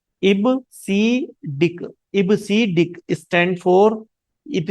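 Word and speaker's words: EBCDIC: इबीडिक इसको बहुत लोग कई बार गलत प्रोनाउंसिएशन करते हैं। इसका सही प्रोनाउंसिएशन क्या है? इब सी डिक इबसिक stand for इट सी डिक stand for ये होता है हमारा एक्सटेंडेड।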